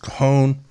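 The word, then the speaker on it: cajón: some simple wood Loops I made from a kahone c AJ O N I don't think there e on it C AJ o n pronounced coone you may have heard the phrase about someone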